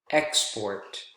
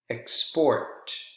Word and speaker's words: export: shared with you that two-syllable nouns, more often than not, are usually stressed on the first syllable. We looked at examples together there. Present, export, China, and table. Whereas with two-syllable verbs are usually stressed on the second syllable. And examples of those: present, export, decide, begin.